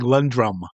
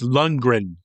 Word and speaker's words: Lundgren: You're saying Lundrum. It's Lundgren.